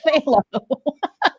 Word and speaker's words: phthalo: It sounds like you're It look spelled like you're spitting, but it's called phthalo.